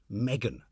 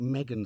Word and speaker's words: M3GAN: And I think M3GAN stands for Model 3 Generative Android. So it's spelled M3GAN.